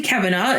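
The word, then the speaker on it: Caverna: It's um Cavverna. Cavana. I'm going to say Cavana. It's like cavern with an a on the end.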